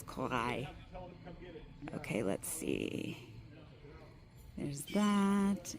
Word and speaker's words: Corail: I was politely told that I was saying it wrong, so it is Corail.